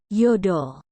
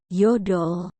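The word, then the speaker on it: 여덟: Tetapi untuk ilgop, 7, yodol, 8, dan ahop, 9, suku kata pertamanya lah yang harus Anda tekan. Jadi, cara bacanya adalah ilgop, yodol, dan ahop.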